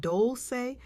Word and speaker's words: Dolce: Welcome to the Soft Girl era podcast hosted by Doli, pronounced doulce like sweet softness whispered in French.